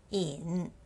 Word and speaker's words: 饮: PIN for this word the first character in y i n with the third tone in in and the word Liao